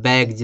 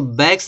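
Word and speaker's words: bags: फिर यहाँ देखो जी है, तो जी के बाद यस आ रहा है, तो इस यस को उच्चारण देखो जा निकल रहा है, बैग्ज, बैग्ज माने थैले। इसको बैग्स नहीं पढ़ते हैं, बोल उसको ट्राइब्स पढ़ते हैं, ट्राइब्स होता है।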